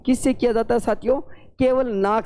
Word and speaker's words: हंस: ऊपर वाला जो शब्द लिखा है जिसके ऊपर मैंने केवल अनुस्वार का प्रयोग किया है उसका उच्चारण कैसे करेंगे? हंस।